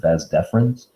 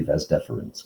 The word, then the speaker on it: vas deferens: they drop the first e and they just pronounce it vas deferens but it's really ves deferens kind of like wednesday then the urethra and